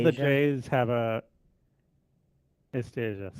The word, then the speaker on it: esteja: All the Esteja J's have a esteja, sim. is like the j sound.